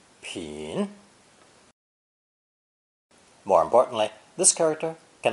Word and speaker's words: 品: Pronounced 3rd tone, 品, 品.